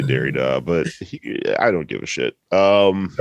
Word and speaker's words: Derrida: cajun philosophical treaties um i think people say dairy dog but i don't give